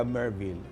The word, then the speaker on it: Merville: Ay kasi mga kaibigan ang authentic na taga Merville ay kayang banggitin at i-pronounce ang V ng Merville.